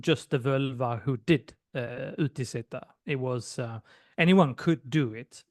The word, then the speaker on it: utiseta: First of all, That was can you please pronounce the word? utiseta.